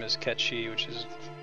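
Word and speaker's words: Cait Sith: __ ] name is ketchy which is another weird gaelic thing that's hard to pronounce actually came up this morning at ranch it's called c-a-i-t-s-i-t-h it's pronounced catchy temp is incognito it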